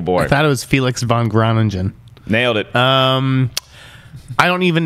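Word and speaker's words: Felix van Groeningen: I thought it was Felix von Groningen.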